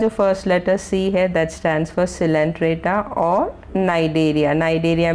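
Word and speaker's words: Cnidaria: centre एटा और नाइजीरिया नाइजीरिया में सी silent है मगर स्पेलिंग में सीख जाता है तो सिस्टम्स फॉर सिलेंडर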